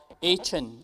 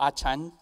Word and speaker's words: Achan: committed by this person called Achan, or Achan, no matter how you pronounce it, Achan, Achan, stole silver and gold, recorded for us in Joshua chapter 7.